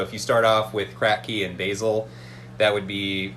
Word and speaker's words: Kratky: a try um there's there's uh the the kratky method is really good that's where you have